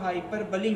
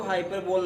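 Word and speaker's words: hyperbole: दूसरा आपका ये आपका हाइपरबली हो जाएगा। आज तक अगर आप पढ़ते आए होंगे इसका गलत प्रोनाउंसिएशन करते आए होंगे, हाइपरबोल बोलते आए होंगे, तो हाइपरबोल नहीं होता, हाइपरबली होता, राइट प्रोनाउंसिएशन हाइपरबली।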